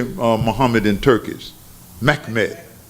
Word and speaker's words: Mehmed: Mehmed. Mehmed.